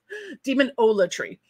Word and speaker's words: Demonolatry: I just realized I've been pronouncing demonolatry as olatry, but it's really latry. Demonolatry.